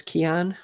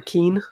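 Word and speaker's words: Cian: So if we're going with that, the Irish pronunciation of the name is Kian or Keen sometimes.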